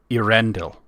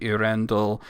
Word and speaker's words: Eärendil: He eventually decided that his fairies were called elves, and it became a little bit of a different pronunciation because he put the accent on the A instead of the E, so it became Eärendil.